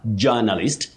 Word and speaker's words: journalist: That j o u r takes the sounding ja, ja with what we technically call the mid central sound a, a, the long one, a. Journalist, journalism, and journalistic, not journalistic.